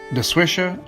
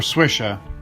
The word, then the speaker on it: Des Joachims: Whether it's Dejoachim, DeSwisha, or Swisha, you're pretty well safe.